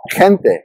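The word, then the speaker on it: gente: meaning so in Spanish the G followed by an e or an i is pronounced with a softer sound similar to the English H in hero or the J in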